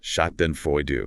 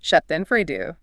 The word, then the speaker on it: Schadenfreude: It's pronounced Schadenfreude. Schadenfreude.